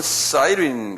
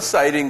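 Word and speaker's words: Cyrene: 그래서 구레네 하면 사이린 그런데 그 사이린 하는 게 이게 다 영어식 발음이에요.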